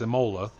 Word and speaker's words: Imola: See, Stolowski's going to come in and be that guy like Donkey Pete or like Zorax and tell me how to pronounce things. It's Imola.